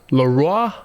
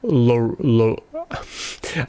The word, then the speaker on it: LAROI: leroy the kid leroy laura english people pronounce it like that laura but it's lo today's video we are